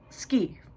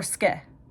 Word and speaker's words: Ske: reveals the driver's name, which is Ski. Or Ske. It's one of the two pronunciations. It's S-K-E. I'm going to pronounce it Ski, which is just, aw, he does care a little bit about people.